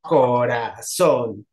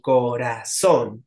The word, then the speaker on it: corazón: fuerte entonces acá también por ejemplo corazón Sí corazón otra vez cumple con la regla la sílaba tónica cae en la última de izquierda derecha y termina con n Entonces sí que va